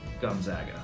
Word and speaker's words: Gonzaga: though as well so if you just think of the zags it's Gonzaga like gone zaga it's not that hard